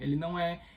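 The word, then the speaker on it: eau: Não que ela significa água em francês, na verdade, água em francês é E-A-U, mas a pronúncia é E também, né?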